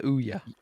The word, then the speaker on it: Ouya: It's the Ouya.